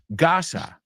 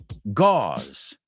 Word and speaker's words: gauze: is okay what about gasa not the Gaza the Gaza stripa no Gaza we say Gau gauze and tiita well the British